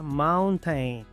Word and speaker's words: mountain: Muchos pronuncian esta palabra mountain. La O se pronuncia A. La A se pronuncia E. La I es muda.